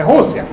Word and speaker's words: Rússia: é Rússia. R-U-S-S-I-A. With an accent on the U.